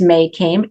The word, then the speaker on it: Mae Caime: Um, so it's just May came Mae E like my first name and then it's C AI M is Mary E.